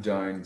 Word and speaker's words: dein: These all rhyme with ein. Mein, dein, sein rhymes with ein.